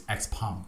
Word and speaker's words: Xpeng: to say Xpeng, I don't know, so it's Xpeng. Okay, Xpeng. I will pronounce it the correct way from now on, Xpeng.